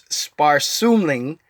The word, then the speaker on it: Sparsumling: Everyone's having a hard time pronouncing. It's Sparsumling, and it's Danish for thrifty.